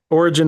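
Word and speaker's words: Origen: And I know we're going to get into it with origin. Am I pronouncing that right? I I Yeah. Okay. I'm like, you know, that guy uh Yeah, origin is the correct pronunciation.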